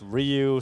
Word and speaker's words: Ryu: So, just want to say as well, I was calling him Ryu because we asked Astralis, how do we say his name, and they were like Ryu, and then chat were all spamming idiots, and so we did the Street Fighter thing, and it's Ryu.